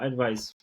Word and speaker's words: Aidvize: yeah, advice. Okay. It was supposed to be advice, but then the .com domains are so difficult to find out.